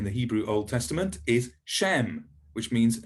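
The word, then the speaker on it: שֵׁם: So a very important word in the Hebrew Old Testament is Shem, which means name. And you can see, if you see an S with a little hat on it, that's sh, Shem.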